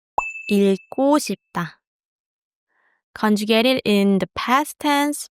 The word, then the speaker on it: 읽고 싶다: To want to read is 읽고 싶다. Be careful. You pronounce the 리을 and the 기억 together here. 읽고 싶다.